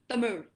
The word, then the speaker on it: Tamil: not anyone twinkle so here we are saying tamil but uh the speaker of that language would call it as tamir it's very different right